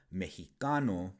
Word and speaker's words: Mexicano: Now, this pronunciation eventually changed to the one we're all familiar with today, Mexicano. This is because the Spanish language underwent a change called a consonant shift, and the sh sound of the letter X